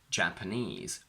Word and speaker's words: Japanese: The general rule goes that all of these words on their own have their stress on the last syllable, but when we combine them with a noun, the stress shifts to the front. So, in 3-syllable words, we go from afternoon, Japanese, Portuguese, picturesque, to afternoon tea, Portuguese food. We go from Chinese to Chinese food, from this quantity is